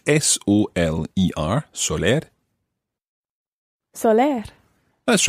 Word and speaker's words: soler: and this is a very interesting verb indeed it's spelled s-o-l-e-r Soler Soler that's right we'll talk about first